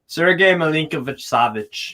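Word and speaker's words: Milinković-Savić: How do you pronounce his name? Sergej Milinkovic-Savic.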